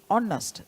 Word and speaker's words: honest: silent there right it is silent there therefore we say honest the the vowel sound or therefore we use n right so we say an honest person and honest teacher and